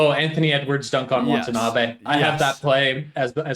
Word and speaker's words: Watanabe: And good on Watanabe, is that how it's pronounced? Yeah, Watanabe.